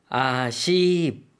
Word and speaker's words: อาชีพ: อาชีพ 둘 다 조금 장모음이죠. 특히 뒷부분에 강조를 두어서 발음을 해주시면 되겠습니다.